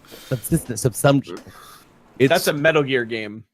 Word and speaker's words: subsumption: I always call it subsistence, and it's wrong. Subsumption.